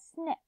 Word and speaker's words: SNCC: the end the SNCC which people pronounced as snick SNCC and the Congress